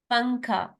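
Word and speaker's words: پنکھا: पंखा, अब इसमें नून जो है वो साइलेंट है, इजंट इट.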